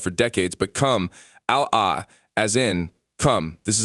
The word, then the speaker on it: Kamala: has recently insisted that her name not be pronounced camel a as in camera as she was called for decades but come ala as in come this is an additional reference